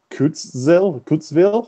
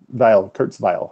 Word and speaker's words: Kurzweil: Usually throw that in, if not, or so the quote I have today is this is by Ray Kurzweil, I believe how you say it. Kurzweil, I believe is how you say his last name.